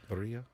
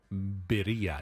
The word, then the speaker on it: birria: Birria? Birria. You know I can't Birria. roll my R's, but it's a Birria. double R, so. Birria. I thought it was birria. Birria. Birria. Birria.